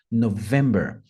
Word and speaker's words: November: letra N November November Ah notem que tem uma ênfases no vem November táxi vai a lima